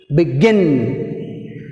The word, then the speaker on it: begin: Next, begin, begin, begin. B first syllable, gin second syllable. The second syllable, beginning letter is G. We put stress mark on G.